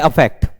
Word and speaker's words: affect: अफेक्ट में अ का pronunciation आ रहा है और इफेक्ट में ई